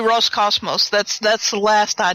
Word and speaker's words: Roscosmos: So So what looks like a P is a row. Is a row which is an is an R sound. So I've been saying it wrong all along. So it's probably it's probably Roscosmos.